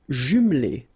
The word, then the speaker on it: jumelée: Une maison individuelle jumelée. Final E here, not pronounced.